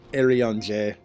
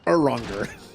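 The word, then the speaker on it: Urianger: Yeah, Arion J. No, it's Uranger. Just pronounce everything like it looks like.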